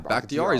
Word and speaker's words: Bakhtiari: David Bakhtiari? Bakhtiari. Yeah, Bakhtiari.